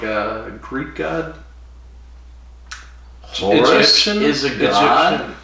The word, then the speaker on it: Horus: Horus is a god. Horus is an Egyptian god.